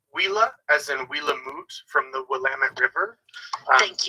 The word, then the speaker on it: Willamette: The French renamed it just with their dialect and spelling, so it's Willemette. It's like long-winded when it's Wilamut, where the water runs fast.